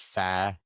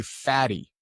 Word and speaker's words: Fady: In Arabic, it's pronounced Fadi.